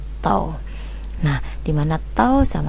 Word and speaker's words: tau: Tuliskan namanya adalah tahu tulisannya tahu cuman bacanya toh nah di mana tho